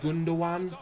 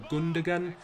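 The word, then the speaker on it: Gündoğan: Our right centre attacking midfielder, we have got, right, hang on guys, Ilkay Gundogan, or Gundogan. If I go by the pronunciation of the commentators, it's Gundogan, but, you know, take from it what you will.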